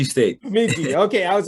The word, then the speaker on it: Bemidji: I mean, I think I can't pronounce it. You probably will. Bemidji. Bemidji State. Bemidji.